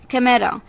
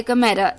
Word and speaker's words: chimera: कैमेरा, CHIMERA, कैमेरा, H silent है इसमें, कैमेरा, CHIMERA, कैमेरा।